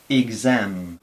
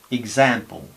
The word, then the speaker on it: exam: Pero sin embargo, cuando tenemos a la X entre vocales, intervocálica, entonces no es este sonido, sino este sonido. Es una G con una S sonora. Por ejemplo, en exam, exam, o example, exam, example, example, exam, example.